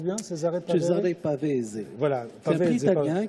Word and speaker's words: Cesare Pavese: Tu as eu aussi un prix qui s'appelle Cesare Pavese, je le prononce bien? Cesare Pavese.